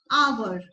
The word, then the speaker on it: hour: Here it's air, an air, an hour. H is silent.